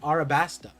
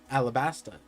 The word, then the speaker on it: Alabasta: was the king of arabasta alabasta for those of guys who are mad about the RL conversion even though in Japan Japanese they don't pronounce them separately the same pronunciation but besides the point